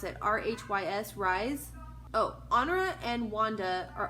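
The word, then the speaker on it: Rhys: I don't know how to pronounce it. R-H-Y-S, Rise.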